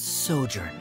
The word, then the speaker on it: sojourn: well is everything clear uh how do you pronounce this word let me see so Jordan that's sojourn it means to stay for a while this